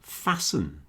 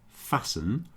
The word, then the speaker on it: fasten: If you add an en suffix on the end, you get the verb to fasten with a silent T, fasten.